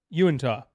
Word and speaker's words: Uinta: Latinian is pronounced with a sound at the end, not a sound. Tinia. Uinta? Uinta.